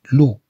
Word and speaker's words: loup: L-O-U se prononce loup.